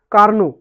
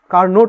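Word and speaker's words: Carnot: আদর্শ ইঞ্জিনটা তৈরি করেছিলেন কার্নো কার্নোট একচুয়ালি ওর নামটা হচ্ছে সি এ আর এন ও টি ইংরেজিতে কার্নোর বাংলাতে উচ্চারণ হয় কার্নো টি উচ্চারণ হয় না ঠিক আছে তো কার্নোর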